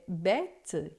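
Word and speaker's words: bête: circunflexo para você saber que a pron é aberta e que antigamente existia um s certo então a gente tem por exemplo fet que é festa é bet que é besta E todas as vezes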